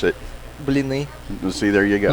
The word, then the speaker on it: Blini: How do you really pronounce it? Blini. See, there you go. Blini.